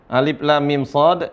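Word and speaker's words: المص: Lam Mim Shad Lam Mim Shad dibaca panjang kalau alif lam ro sudahah pahamlah Insyaallah Alif Lam Mim gimana Alif Lam Mim Shad Alif Lam Mim Shad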